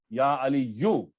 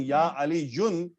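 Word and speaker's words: يا عليُّ: Your tongue should adjust now, that when ya is coming, then we will not pronounce tanween. Your tongue should know now. Ya Ali you. If you are saying Ya Ali Yun, it means your tongue has still did not recognize it.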